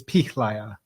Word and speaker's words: Pihlaja: Have I pronounced that right? Yeah, tell me if it's wrong. It's Pihlaja.